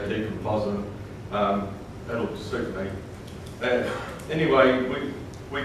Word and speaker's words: decompositum: Someone pronounced it differently last night, but I say decompositum.